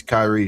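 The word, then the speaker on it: Cirece: My name is Kyrie. It's spelled C I R E C E.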